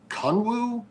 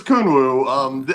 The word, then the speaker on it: Kunwu: on Kunwu stuff, and some people are pronouncing it Conwoo, but Huh? I'm pretty damn sure it's Kunwoo.